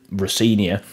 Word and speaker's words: Rosenior: in there but now you've broke it down on how to pronounce it rinia it helps me with spelling it because it's spelled how it said right um but some